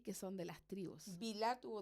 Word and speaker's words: Bilha: mira, al hablar de Bilá, porque tiene acento en la A, esta fue entregada porque Raquel ansiaba tener un hijo, ¿cierto?